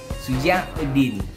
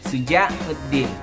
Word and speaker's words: Syujauddin: So, how to pronounce my name? Betul-betul dalam bahasa Arab ya, dek. Shujauddin, Shujauddin.